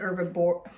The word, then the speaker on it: herbivore: keys hmm herbivore herbivores no like Herbie no like herbs like plants they eat plants so there's carnivores there's